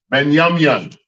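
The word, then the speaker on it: Binyamin: And how you say it in Hebrew, it is Benyamyan. Benyamyan.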